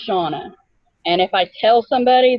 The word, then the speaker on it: Shannah: my name correctly so my name looks like Shanna but it's actually pronounced Shana and if I tell